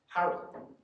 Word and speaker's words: Harrell: O'Farrell is O'Farrell, and if you aspirate the F, which was common after an O, you add a H, so it becomes not Farrell, but F-H-A-R-R-E-L, or equivalent to that.